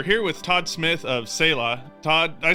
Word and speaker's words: Selah: with Todd Smith of Salah Todd I said that right right you said it right it's sailor so it comes from an